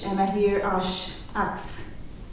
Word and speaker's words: H: Indeed, I write H and I hear ash, axe. H is pronounced ash in French.